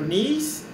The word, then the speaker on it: knees: Lembra do know, que nós falamos na última aula, né, que nós não pronunciamos o K? Aqui é a mesma coisa. Então, joelhos, knees, joelhos. Então, esse K não é pronunciável também.